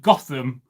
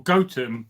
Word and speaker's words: Gotham: He heard about this village in the shire of Snotingham called Gotham or Goatham depending on how you pronounce it.